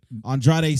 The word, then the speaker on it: Andrade: can't I can't not just calm Andre it's Andrade it's Sein Alma's for